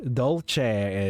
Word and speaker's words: dolce: Dolce is Italian, which is why it's got that ch sound in it as opposed to this sound of how her name is supposed to be pronounced.